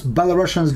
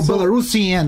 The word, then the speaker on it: Belarusian: Or Belarusian, I would, because without double S, sure. We should pronounce it Belarusian. Now it's Belarusian, Belarusian. Belarusian is one S, not SH.